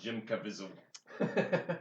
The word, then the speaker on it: Jim Caviezel: It's pronounced Jim Caviezel.